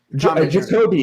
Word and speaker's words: Jacoby: Jacoby. Like Jacobian.